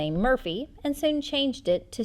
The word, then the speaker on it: Morphy: Michael Morphy, Paul's great-grandfather and the first to abandon the Murphy surname for Morphy to suit Castilian pronunciation, had correspondence with Thomas